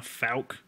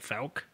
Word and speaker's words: Fouke: that's how you say it we're going to falc Arkansas and because you need to write this